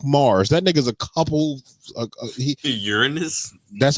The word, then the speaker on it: Uranus: Uranus. That's how you pronounce it.